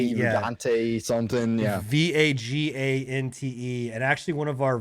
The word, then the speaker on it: Vagante: You know, along with we pronounce it as Vajayjay, but you know, it's called Vagante, like, or it's spelled V-A-G-A, yeah. Vagante something, yeah. Vagante.